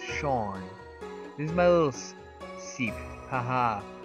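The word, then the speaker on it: Seam: let's talk by yourself the name seemed pronounced Shawn who's my little secret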